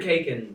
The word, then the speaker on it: Khaykin: So the K, but the K part is silent. The first. So, K. but nobody's ever said Keegan. No one's actually ever said that. People say Because of why? Kaikin or Khaykin.